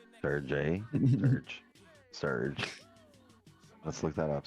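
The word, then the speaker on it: Serj: I thought it was Sir J. Surge? Surge. Surge. Let's look that up. Surge tankian. Please. Jay is silent.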